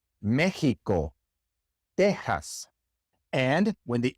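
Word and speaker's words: México: But there are a lot of place names, especially in Mexico, where the X is pronounced like an H in English, Mexico.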